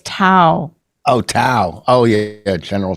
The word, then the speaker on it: Tao: It's not Cowism. What was it? It's Tao.